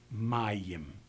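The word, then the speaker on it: מים: its own vowel notations so this word has to be pronounced Mayim in the second example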